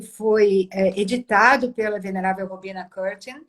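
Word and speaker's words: Courtin: A pronúncia correta é Robina Curtin, é isso? Curtin, é.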